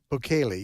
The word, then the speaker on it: Bukele: Is that how you pronounce it? Bukele, yes.